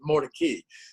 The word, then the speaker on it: Mordecai: jewish than that um ben goldberg always used to say in the 19th century they pronounced it mordecay but in any event